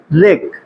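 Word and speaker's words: wreck: है लहर होती है रेक हमने बताया था कि अगर आर से पहले डब्लू आता है डब्लू वर्ड क्या होता है साइलेंट होता है उसका उच्चारण नहीं करते हैं इसको क्या पढ़ेंगे रेक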